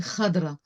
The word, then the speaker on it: Khadra: Abou Khadra oui évidemment avec cette translitération anglo-saxonne qui nous fait prononcer n'importe comment en français mais c'est Khadra de de là quartier